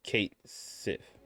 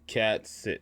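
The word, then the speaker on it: Cait Sith: in Final Fantasy 7 rebirth Kate Sith is pronounced Kate Sith okay all right what did people think it was oh oh I see ah I see because it's a cat so people probably called it cat SI oh okay all right I always called it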